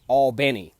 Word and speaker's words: Albany: there kind of like with Albany I say Albany but the locals say all bene okay so you just have to be real